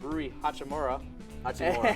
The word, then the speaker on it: Rui Hachimura: was two other players I think it was rui hachimura that's how you say it sorry and Austin